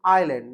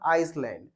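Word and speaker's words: island: कुछ लोग इसे आइसलैंड बोलते हैं, यहाँ पे हमारा एस साइलेंट होता है, तो रिमेंबर दिस, इसे बोलेंगे हम आइलैंड, नॉट आइसलैंड।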